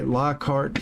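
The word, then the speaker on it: Lockhart: They it's spelled like I say Lockheart, Texas and they it's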